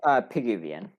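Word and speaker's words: Pigouvian: But Piguvian, like Piguvian, yeah, like Piguvian.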